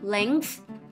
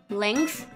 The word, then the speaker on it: length: length เนี่ย นะ คะ th อย่า ลืม ออก เสียง ยัง ไง อ่า ลิ้น แลบ ออก มา นิด นึง เรา หด กลับ มา อย่าง รวด เร็ว อ่า length length Full